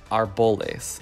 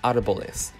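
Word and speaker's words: árboles: Well, just pay attention to where the accent is. I would say more often than not, I'll hear people say arboles instead of arboles.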